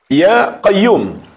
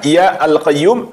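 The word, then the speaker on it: يا قيّوم: Ya qayyum. Jangan dibaca ya alqayyum atau ya qayyumun.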